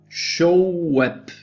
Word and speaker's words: Shoaib: Shoaib, that's how you pronounce it, like showing the web, Shoaib, but it's not written Shoaib, it's Shoaib, yeah?